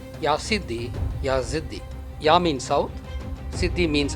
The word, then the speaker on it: Yazidi: I will start with the very name Yasiddhi. It is pronounced variedly as Isiddhi, Yasadan, Yesiddhi. The original spelling and pronunciation was Ya plus Siddhi, Yasiddhi, Yaziddhi.